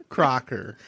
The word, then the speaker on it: Crocker: you're last name is just think of Croc like Crocs it rhymes with soccer Crocker Faker Crocker oh anyways let's jump into this so cover.